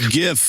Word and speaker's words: GIF: Graphics, hard G. Yeah, it's GIF.